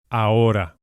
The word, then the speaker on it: ahora: The word now is ahora. As H's are not pronounced in Spanish, we go straight from the A to the O.